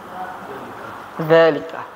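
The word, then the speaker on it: ذلك: Pengucapannya zalika. Tapi ya, dia dikasih mat tanda tegak itu. Iya. Ada juga, tapi ada yang mengatakan tuh kitabahnya salah dia, ada kan? Tidak ditulis dalam kitabahnya zalika itu tidak dipakai alif, tapi pengucapannya zalika panjang.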